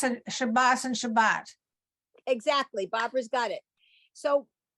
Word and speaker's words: Shabbat: the state of Israel, the pronunciation of this letter as an S fell out of favor or disappeared, and both are now pronounced as a T. And Shabbos and Shabbat.